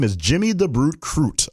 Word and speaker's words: Crute: So the details on this young man, his name is Jimmy the Brute Crute. I hope I pronounced his last name right because it rhymes with brute.